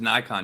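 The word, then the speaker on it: Naikan: that and this is nikon you're talking about yeah yeah yeah and that's spelled the n-a-i-k-n is that right yeah n-a-i-k-a-n and it's pronounced like the camera nikon okay cool uh john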